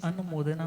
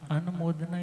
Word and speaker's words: अनुमोदना: है जिसका नाम है अनुमोदना। क्या शब्द है, कई लोग उसे अनुमोदना बोल देते हैं, बट अनुमोदना is wrong pronunciation, अनुमोदना is right pronunciation. अनुमोदना का मतलब और अनुमोदना का मतलब हम सुनते हैं।